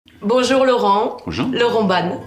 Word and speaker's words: Laurent Ban: Laurent Ban. Oui, absolument. Bien prononcé? Parfait, Ok.